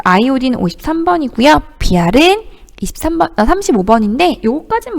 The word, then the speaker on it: 아이오딘: I는 아이오딘이라고 읽어요. 자, 아이오딘 53번이고요.